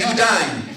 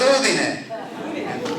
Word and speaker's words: Udine: all those lovely guys, they could never pronounce our name right. And they kept saying, Udine. It's not Udine. It is Udine.